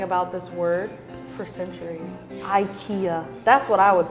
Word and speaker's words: Ikea: In Sweden, the Swedish pronunciation Ikea.